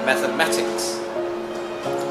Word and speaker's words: mathematics: So there are 4 sounds in the word mathematics, and the stress sound goes above number 3, mathematics.